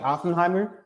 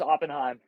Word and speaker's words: Oppenheim: Today we have uh Oenheimimer. I I did pronounce that right. Uh no ER, just Oppenheim. They made a movie so I'm now like cursed because has an ER.